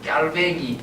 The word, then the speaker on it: 칼뱅: 그래서 이제 칼빈, 켈빈은 영어식으로 이제 부르는 거고, 발음을 할 때는 깔뱅이 맞습니다. 깔뱅이 맞는데 그걸 이제 주로 쓸 때는 칼뱅이라고 쓰죠. 된소리가 나지 않아야 된다는 우리 문법이 있죠. 그래서 외국어 표현법에 따라서 이제 쓸 때는 칼뱅, 그러나 말할 때는 이제